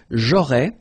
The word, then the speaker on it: j'aurais: J'aurais, so final S, not pronounced. J'aurais.